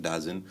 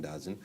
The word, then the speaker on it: DAZN: They got a minor stake in DAZN, D-A-Z-N, DAZN. The people have a lot of pronunciations for that, but I call it DAZN.